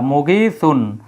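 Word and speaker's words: مغيثا: form ব্যবহার করতে গেলে একটা দুই জবর এবং এক আলিফ টান যোগ করে দিতে হয় আগেরটার মতই এই যে গাইসান এর মতই মগিসান তাহলে মগিসান মানে সাহায্যকারী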